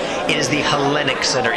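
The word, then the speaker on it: Hellenic: and it looks like Escobar here it's the helenic center I know you're not Greek so you don't understand how it's pronounced it is the helenic center it's not Elite it's like the Leaning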